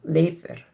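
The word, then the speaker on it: Leifur: So think of the beginning part as L a Y and then actually in Icelandic the F is pronounced like a V. So it would be leer with that of course that beautiful rolling R at the end.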